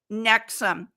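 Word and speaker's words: NXIVM: Witness then Scientology then it's called nexum but it's spelled nxi VM nexum and here's an interesting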